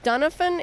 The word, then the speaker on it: Dunafon: And tell me the correct Dunafon is the correct pronunciation of Castle Dunafon.